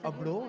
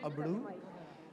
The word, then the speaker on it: Abro: And yeah, my name is Abdo instead of Abdu. So a lot of people actually pronounce it Abdu.